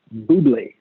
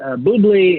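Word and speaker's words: Bubly: it the last super-old Buble it's spelled like bubbly with missing a B so a single BB or Libya BB Buble and you know it's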